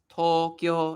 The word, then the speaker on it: Tokyo: Well, it it it's actually to so it's like like to a stretch sound Tokyo. But obviously when you say it fast it becomes Tokyo. It's not Tokyo, it's Tokyo. That kind of thing. you even if you say it fast, the stretching has to be like consistent.